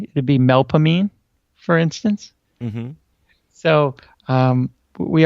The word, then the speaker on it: Melpomene: almost all of the names so instead of melp hominy it would be melpomene for instance mm-hmm so we aren't real good with proper pronunciation here I see that's we say we're